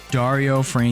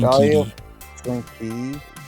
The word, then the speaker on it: Dario Franchitti: Dario Franchitti. Dario Franchitti.